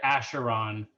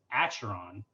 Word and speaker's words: Acheron: It is neither Acheron or Acheron. It's Acheron, at least according to their pronunciations.